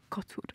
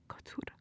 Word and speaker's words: kocur: It's not directly translatable, but kocur is really good to use. Kocur. Kocur. Try to roll your R a little bit more. Which coincidentally sounds like a cat purring.